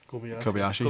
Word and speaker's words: Kobayashi: So, correct me if I'm wrong with the pronunciation. Is it Kobayashi? Kobayashi.